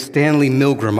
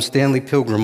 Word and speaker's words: Stanley Milgram: it wrong all day his name is Stanley Milgram I was calling him Stanley Pilgrim all day he attempted to find